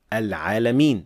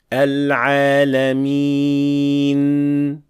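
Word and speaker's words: العالمين: Another thing that is usually mispronounced here is adding imala to the end of the word and say Rabbil Alameen, while it should be Rabbil Alameen. So, Al-Alameen, not Al-Alameen. These are two different sounds.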